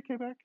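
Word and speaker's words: Québec: you ever been to quebec quebec it's uh pronounced k back on full set so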